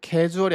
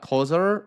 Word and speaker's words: causal: There is a causal, casual이 아니고 causal이에요. 네, 인과 관계가 있다. 요거 이제 해설 강의 한 거 보면 선생님들 중에서 casual이라고 해석하는 또는 casual이라고 발음하시는 분들이 종종 있어. 네, causal입니다. 여기 이제 인과관계.